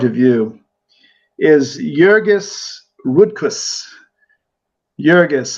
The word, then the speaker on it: Jurgis: Jurgis, I'm pronouncing it, the J, like, they probably would pronounce it in the old country, Jurgis, Jurgis Rudkus, Rudkus.